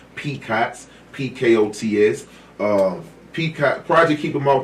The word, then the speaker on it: PKOTS: We pronounce it as PKOTS, P-K-O-T-S.